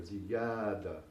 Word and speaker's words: زيادة: And in Arabic, it's ziyada, زيادة. And again, this syllable is a little bit longer. زيادة.